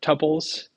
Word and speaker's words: tuple: a little strange uh I've seen it pronounced with a long u or a short u so you can say tupes or tuples uh if you're in